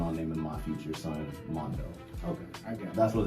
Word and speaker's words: M4ndo: spell your name now so it's Mondo M4 n d o the reason I spell it like that so is cuz I'm